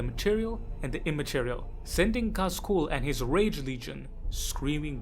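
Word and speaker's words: Khaz: look at is the first bit known as Kaz.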